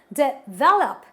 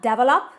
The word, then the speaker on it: develop: And this word requires that I stress on syllable number 2. So I pronounce it as develop, not develop.